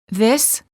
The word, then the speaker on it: this: houses warning common mistake make sure that you're not pronouncing the words this and these the same the word this is singular and is pronounced with a short I sound and a s the word these is plural and is pronounced with a long vowel e and a z sound this these I like